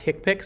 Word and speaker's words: HCPCS: I work in health care I know it's pronounced hick pics so HCPCS code that's a five digit code